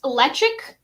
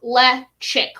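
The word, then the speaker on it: Ledaig: So it's Lechik. It looks like Ledag, yeah, but it's like Lechik, like a chick.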